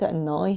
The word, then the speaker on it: annoy: 그래서 chose는 이중 모음이라서 chose not to에 아는 아 소리 예 chose not to annoy her 들어보세요 her but not annoy her 그리고 annoy her 하셨는데 annoy가 아니라